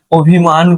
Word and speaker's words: অভিমান: তাইলে আমরা বুঝতে পারছি যে এখানে অভিমানে উচ্চারণে কি আসে? ও। আর এখানে অপমানে উচ্চারণে আসে কি? অ।